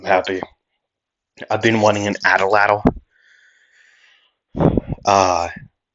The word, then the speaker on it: atlatl: If you would like to learn more, an Ataladdle is an Ataladdle. An Ataladdle? You might have to turn on subtitles to learn how to spell it. But it's the spelling is Atlatl, an Ataladdle.